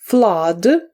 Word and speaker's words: flood: underwat підводний Wave хвиля Flood повінь фд подвійне у вимовляється як А flд Rock Earth Land Building